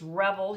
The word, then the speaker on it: Revel: Yeah, I'll say it wrong, but it's Revel.